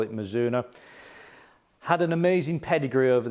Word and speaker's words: Mizuno: we got for you today always exciting my mizuno launched a new range of product and in